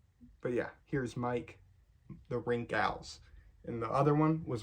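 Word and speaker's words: Rinkhals: wrinkles wrinkles the wrinkles because I mispronounce it a lot I used to say wrinkles for the longest time until I learned how to actually say it but yeah here's Mike the rink owls and the other one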